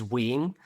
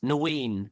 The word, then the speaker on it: Nguyen: Yeah, my surname in Vietnamese, or how you're supposed to pronounce it, is Nguyen. But as a kid, I've always pronounced it as Nguyen, right? Just because it was like easier. There's no N in pronouncing it in Vietnamese, but teachers would ask me and stuff.